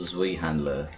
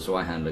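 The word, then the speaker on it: Zweihänder: a guy with a Zwei handler, and we're like, yeah, we're Zwei handler. Down. You keep saying it, Zwei. I'm sorry, I don't know how to pronounce anything. It's Zwei, it's German.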